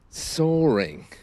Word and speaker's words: soaring: newspaper today about inflation soaring soore s o a r and as usual with London accents and in receipt pronunciation the r is generally silent so so there's birds